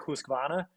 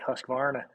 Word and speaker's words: Husqvarna: Also, if I guess you're Scandinavian, you would say something more like Husqvarna. But Husqvarna. But if you're American, you just say Husqvarna. Put some emphasis on the R.